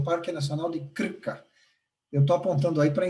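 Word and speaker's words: Krka: o Parque Nacional de clica eu tô aprontando aí para ensinar pronunciar eles falam com acento no R Olímpio que pareça é isso mesmo muito legal pois esse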